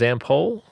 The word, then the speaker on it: Zampol: Can you tell me a little bit about it's pronounced Zampol Productions, right? Yeah, Zample Productions. Yeah, Zample Productions.